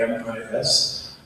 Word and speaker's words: AMIS: And yes, we do pronounce the AMIS, AMIS.